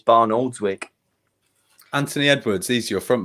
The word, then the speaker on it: Barnoldswick: He always says, Potsy, if you're listening, you always say Barnes Oldwick, and it's Barnoldswick.